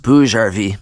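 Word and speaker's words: BougeRV: Quick correction, it's pronounced Bouge RV.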